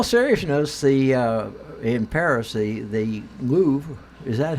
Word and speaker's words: Louvre: but in all seriousness the impera see the Louvre is that how you pronounce it yes it's very I was shocked